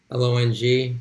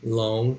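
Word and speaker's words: 龙: So again, it's the same Pinyin though, same pronunciation, long, L-O-N-G, long. It's second tone, although you're getting every L-O-N-G that exists.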